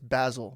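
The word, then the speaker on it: Vasyl: Vasil. How do you say the middle part? Vasil. It's like a It's Basil but in Ukrainian.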